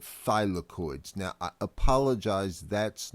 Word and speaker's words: thylakoids: membranes and the internal membranes are officially called thylakoids now I apologize that's not on this slide